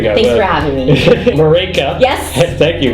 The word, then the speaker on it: Marÿke: Marÿke. Yes. Thank you. Marÿke, it rhymes with Jamaican.